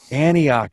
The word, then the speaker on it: Antioch: mark how do you say that in Antioch Antioch yes and where is that near uh we're